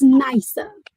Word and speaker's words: Nasya: Now, first of all, let me make sure that I'm pronouncing your name right. Say it again for me. It's Nicer.